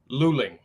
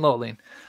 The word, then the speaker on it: Luling: this is loline Texas is that how you pronounce it Luling Luling okay Luling I'm glad I asked you because I'll probably I would have been saying low lean yeah all right is a small City population